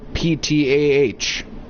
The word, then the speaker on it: Ptah: Next on our list is Ptah, the creator god. And if you think I'm pronouncing it wrong, it's spelled P-T-A-H. Ptah.